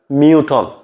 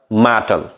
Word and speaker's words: mutton: তাহলে MUTTON মিউটন। এবার উচ্চারণ বোধকে মিউটন করিব, কিন্তু কিবার উচ্চারণ সঠিক অ্যাকুরেট উচ্চারণ বোধে মাটন।